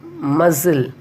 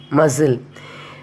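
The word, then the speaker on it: muscle: Rule 1, C is not pronounced after the letter S and also in the combination of SC. For example, muzzle, M-U-S-C-L-E, muzzle. Here we are not pronouncing the letter C.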